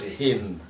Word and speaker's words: Hind: And those people used Sindhu as Hindu and Sindh as Hind. In Persian language, they spelled like this: He, Noon, Dal.